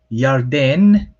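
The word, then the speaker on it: ירדן: in our language so this one's slightly weird because it's pronounced with an ah yeah but then in it turns into an o sound when we transliterate it and then you have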